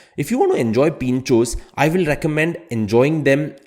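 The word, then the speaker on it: pintxos: is something which is known as Pinchos Pinchos spelled with an X now in s Sabastian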